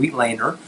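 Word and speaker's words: Weitlaner: That's what I called it for a very long time, until I read a book that this was named after a German surgeon, Wheatlander, and it's pronounced Wheatlander.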